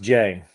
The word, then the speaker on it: Jae: So So it's pronounced Jay. Jay. Yeah. I've been calling you Jai this whole time.